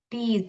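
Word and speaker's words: tease: लिखते हो आप कैसे लिखोगे, टी, ए टी, टीज, ये ई जो है साइलेंट है लास्ट में, टीज।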